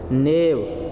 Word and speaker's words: knave: नेव, देखिए दो वर्ड हैं और दोनों में स्पेलिंग का अंतर है। ये KNAVE ये धूर्त है, और एक होता है NAIVE, जो मैंने अभी आपको बताया था। इसका मतलब होता है सीधा साधा, क्या मतलब होता है, सीधा साधा, ठीक है। लेकिन प्रोनाउंसिएशन दोनों का एक ही है, क्योंकि आपने रूल पढ़ा होगा ग्रामर का कि जब भी के बाद एन आ जाता है तो के क्या हो जाता है, म्यूट हो जाता है।